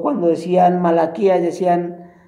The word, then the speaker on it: Malaquías: Había hermanos que cuando decían Abdías decían Adidas, o cuando decían Deuteronomio decían otras Deuteronomio, o cuando decían Malaquías decían Mequías, y bueno, un montón de cosas.